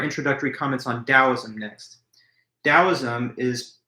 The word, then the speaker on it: Taoism: a D or T, but it's pronounced with a hard D sound. Even when it's spelled with the letter T, you still refer to it as Taoism.